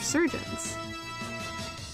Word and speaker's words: chirurgeon: Oh, is that how you pronounce it?